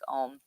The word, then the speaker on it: AUM: It's like they spell it AUM, but it's like Om, and John Paul Moss